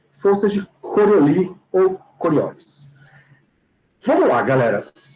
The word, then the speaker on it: Coriolis: Coriolis. Ou, se você quiser usar a pronúncia em francês, Coriolis, tá bom? Tanto faz. Eu acostumei a falar Coriolis, então eu falo Coriolis.